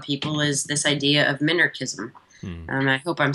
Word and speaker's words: minarchism: Or is it minarchy? No, minarchism.